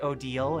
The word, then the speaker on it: Odile: I was very very disappointed when I found out Oda is pronounced Odal and not like dial and crocodile.